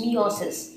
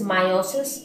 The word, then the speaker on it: meiosis: cell division that is meosis now some of the people pronounce it as meiosis or meosis whatever you call it now there might